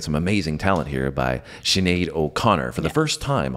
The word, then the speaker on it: Sinéad: Yes, I was saying it and he was like, why are you saying shh? There's no H in there.